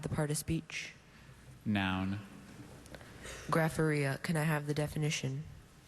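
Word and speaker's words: graphorrhea: Another one where the very middle of this word, that connecting schwa sound, Grapharia.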